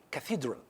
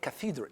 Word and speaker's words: cathedral: word is cathedral cathedral it's not cathedral it's cathedral okay cathedral it's cafe okay cathedral